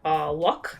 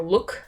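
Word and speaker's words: Lok: One of the main people I've been recently into is Dan Luck, I believe, or Look, depending on how you want to say his name, L-O-K, but he has a really interesting YouTube channel.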